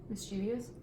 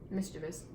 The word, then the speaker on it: mischievous: and it's cran okay how do you say this one mischievious she is how else would you say it mischievous we have a couple